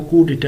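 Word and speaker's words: coup d'état: तो इसका जो प्रोनंसिएशन है वो कु डिटे है।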